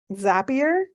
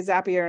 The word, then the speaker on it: Zapier: email management systems um zapier yes that's how you say it like I saw a post earlier like nobody knows how to stay zappier and then they're like it rhymes with happier like perfect now I